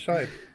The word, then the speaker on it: Scheib: I've heard people pronounce that scribe. Scribe? How does that scribe? SCHEIB. That's Shibe. Yes, Shibe. I've also heard people pronounce it Shreeb.